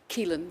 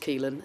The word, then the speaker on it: Keelan: Keelan, yes. Okay. It's got rather a lot of letters, Yes. but it's just pronounced Keelan.